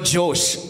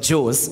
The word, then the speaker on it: Jose: introduced i was introduced my name was mispronounced as josh instead of jews it became jewish i think it's fairly